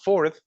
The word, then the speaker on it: fourth: As you can see, guys, starting from fourth, she is overpronouncing the last sound of the word, like it's TH. If you pay close attention, she says like fourth, because that's a specific sound. The TH that we have at the end, the TH sounds like, I know it's kind